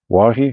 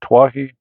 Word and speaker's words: Twohy: Then next up after that is David Wahi. Do you pronounce the T? Is it Twohy? Twohy? Twohy? Wahi?